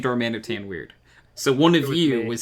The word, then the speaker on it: Darmanitan: Do I say Darmanitan weird, or am I mispronouncing Darmanitan? Darman. No, it's right, Darmanitan.